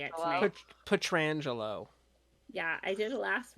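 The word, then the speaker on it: Pietrangelo: Alex Pedrango, I can't say it tonight. Petrangelo.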